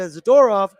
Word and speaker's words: Zadorov: But one man who's going to be back, it's Carson Soucy, which moves Nikita Zadorov.